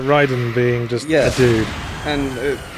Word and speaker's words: Raiden: But, Well, that's the Japanese pronunciation. Raiden.